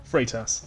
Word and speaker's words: Freitas: Am I right in saying we pronounce it Freitas? Is it Freitas or Freitas? Freitas. That's right. Yep.